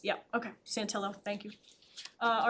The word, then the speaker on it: Santillo: Um, then I would make a motion to appoint Christian Santio Santillo uh to our uh communication advisory committee.